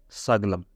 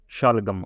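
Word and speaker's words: ਸ਼ਲਗਮ: But, salgam, shalgam, or something like that. Shalgam or Yeah, I'm going to mispronounce it, I think. Guys, shalgam. What I say? Saglam. All right? This is the mispronunciation, actually.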